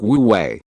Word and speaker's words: Wu Wei: "It sounds like Wu Wei."